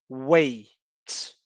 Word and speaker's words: weight: As 2 terminam com GHT. E nas 2 a gente só pronuncia a última letra. Então fica high, weight. E isso acontece também como palavras como night, o número 8, light, right. Então, quando a gente vê essa junção G-H-T, a gente vai pronunciar só o T, ok?